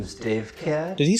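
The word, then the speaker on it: Davecat: what my name is Dave cat did he say his name was Dave and then follow by an animal I mean Dave cat like Thunder Cat but Dave all right threw me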